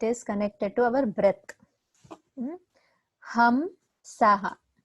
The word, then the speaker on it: Hamsa: Ham Saha. It is said like that. So inhalation, exhalation. So Ham Saha.